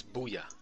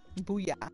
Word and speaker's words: Booyah: It's Booya. Booyah. There you go. Like, booyah.